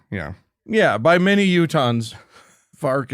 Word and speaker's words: Fork: Yeah, by many Utahns, Fark is closer to how it's pronounced.